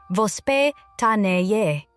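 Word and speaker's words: воспитание: To understand why many Russian children develop healthier eating habits, you first have to understand a Russian parenting concept called vospitaniye. Pronounced vos pe ta ni ye.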